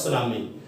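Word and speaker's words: tsunami: When सुनामी struck, इत्थे T silent हुंदे बेटे, ध्यान रखो, ते सुनामी नहीं कहना, टी लिखा जाता है। ठीक है, जैपनीज वर्ड है ये, टी साइलेंट है, इसको बोलते हैं ਆਪਾਂ सुनामी।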